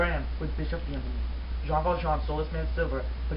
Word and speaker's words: Jean Valjean: I'm hearing now that it is pronounced Jean Valjean.